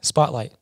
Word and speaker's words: SPTLGHT: And then the last thing is going to be Spotlight Entertainment. So Spotlight's actually spelt with no vowels.